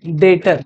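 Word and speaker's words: debtor: से अगला टम क्या फिर लिखते डेटर है बोलते डेटर है बी E silent B E silent ये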